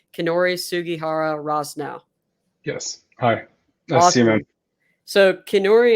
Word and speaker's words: Kinori Sugihara Rosnow: I'd like to introduce and I hope I'm pronouncing your name correctly kinori sugihara Ross now yes hi nice so kenori and I for